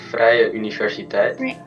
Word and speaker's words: Vrije Universiteit: How to pronounce it? It's the Vrije Universiteit.